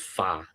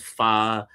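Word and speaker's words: 法: Okay, it's called, the Chinese pronunciation is Fa. Okay, is Fa.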